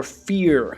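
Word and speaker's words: F.E.A.R.: uh half life or fear Fe a r it's usually just pronounced fear but the characters are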